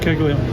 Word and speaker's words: Caglianone: We had Caglianone, is that how you pronounce his name? Yeah, Jack Caglianone.